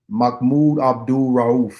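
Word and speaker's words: Mahmoud Abdul-Rauf: It's um um Makmoud Abdul Rahul.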